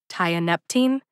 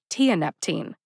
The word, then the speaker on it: tianeptine: to some YouTube videos some people say tie a Neptune others say tianep team that was unhelpful getting